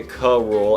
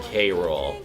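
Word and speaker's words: K. Rool: always used to pronouncing a co-rule and not k-rool so sue me the other thing i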